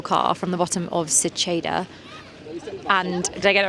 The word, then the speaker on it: Seceda: Seceda. Chi and it's Che. Cheddar. It is spelled with an E though, so we'll let you off Che. today. Seceda.